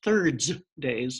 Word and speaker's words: thirds days: has a name that's hard to pronounce its thirds days so it sounds like Thursdays but it's actually a day